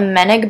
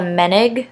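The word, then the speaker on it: Moennig: The only things that are different that I'll sort of go over is that I play with a Meneg barrel on my B-flat clarinet because my B-flat clarinet runs super sharp.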